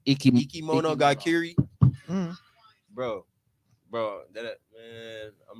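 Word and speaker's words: いきものがかり: Ichimono Gakiri. Ikimono Gakiri.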